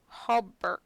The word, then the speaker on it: hauberk: Arya helps him push it around a bit, and after they're done, he opens it and pulls out a chainmail hauberk.